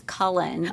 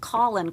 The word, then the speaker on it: Cullen: It seems like it's pronounced exactly like it's spelled, but people would always be like Colin Collins: Like every year,